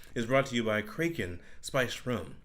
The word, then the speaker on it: Kraken: brought to you by kren rum you may you may pronounce it Kraken but you would be wrong I'm pretty sure that's